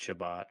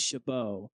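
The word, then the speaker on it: Chabot: How do you even say his name anymore? I don't know. I think it's Shabbat. It's Shabbat. John had me thinking it was Shabbo.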